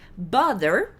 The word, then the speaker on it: bother: Tá, bother. Presta atenção na pronúncia. Bother, bother. É tipo brother sem o R.